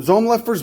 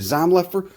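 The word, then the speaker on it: Zomlefer: know you got zom zomlifer's book i know you pronounce it zom leffer whatever this is a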